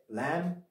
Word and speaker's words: lamb: Then lamb, another one. Again, the B is not pronounced.